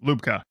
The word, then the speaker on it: Lubka: name correct is it lubka is it lubka what's the what's the proper either either or lupka you got it Luke um you got